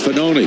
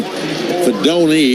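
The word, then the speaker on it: Fidone: That's Fanoni. And Fanoni, the tight end, is the man who makes the run. Fedoni is how you pronounce it.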